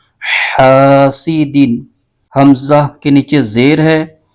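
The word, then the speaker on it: حاسدٍ: کی آواز آئے گی۔ تو اس کے ہجے یوں کریں گے، حا الف زبر حا، سین زیر سی، حاسی، دال دو زیر دن، حاسدین۔ حمزہ کے نیچے زیر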